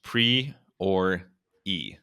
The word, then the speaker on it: Priore: Alrighty, we are here with Ashley Lynn Priore, pronounced pre or e, which is one of my favorite phonetic pronunciations.